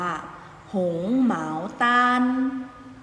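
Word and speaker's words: 红毛丹: กิน ง้อ เอา เงาะ ภาษา จีน ออก เสียง ว่า หงส์ เหมา ตาล หงส์ หมาว ตาม ออก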